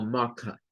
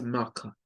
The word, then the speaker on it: marker: Inglés no rótico, lo rótico tiene que ver con el sonido de R y lo eliminan siempre que está después de una vocal.